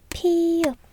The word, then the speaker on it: 피읖: nét Đúng 1, 2, 3, 4 Đúng, ㅍ phát âm [p] và tên là 피읖 được rồi, cuối cùng là 히읗